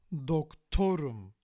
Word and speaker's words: doktorum: dokTOrum versus dokTOrum. Which is which? This one, the first one, is ben dokTOrum. I'm a doctor. Because here the suffix is im, and that suffix passes the stress.